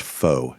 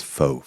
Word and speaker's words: faux: Uh that's actually pronounced foe, D-Day. It's faux fur.